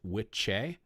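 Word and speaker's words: wicce: Old English, there are two words which I believe are pronounced witche and witcha. Witcha is the one that you put there, and that is for a male practitioner, and witche is for a female practitioner.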